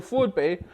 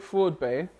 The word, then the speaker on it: FraudBae: of vowel starts so Floyd Bay and I feel really weird cooling a man babe Freud Bay Floyd babe to say it properly fraud bank fraud fraud Bay he got invited up